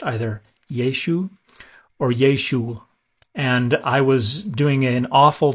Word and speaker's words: Yeshua: uh the Ein but the data don't indicate that the furtive Pata we're used to hearing on the end Yeshua was pronounced in the first century that probably wasn't pronounced until centuries later when the iron was